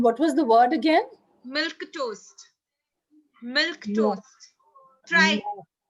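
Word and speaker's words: milquetoast: was the word again milk toast milk toast try sounds like milk and toast to me it is how it is pronounced okay this i was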